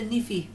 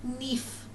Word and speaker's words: knife: I'd say niffy. No, you wouldn't. Knife. Put a K in there, and it's knife.